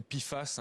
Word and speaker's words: PFAS: d'ailleurs chimiques éternel oui donc les pie face si on le prononce à l'anglaise ce sont effectivement des